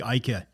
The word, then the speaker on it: Aike: Aike. All right, today we are joined by Mr. Aike. Aike, I'm saying that right? Yeah, that was the Dutch pronunciation, so you're good.